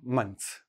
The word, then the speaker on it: months: The way it sounds like to us, the way I say it is months. The THS, I just switched to a TZ.